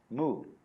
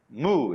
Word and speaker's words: mu: Mu. Oh, I had it on the other side of the board. It's represented by the empty circle. The word mu in Japanese.